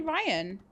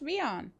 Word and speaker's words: Rion: Are people saying it was meant to be Ryan? It's Rion. So I was saying it right.